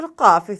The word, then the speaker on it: Qaf: The letter Qaf pronounced from the root of the tongue and the soft palate.